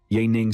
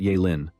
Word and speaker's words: Ya Ning: Ya Ning smiled faintly, his voice calm yet confident. First, I have a small confession to make. My real name is Ya Ning, not Ya Lin.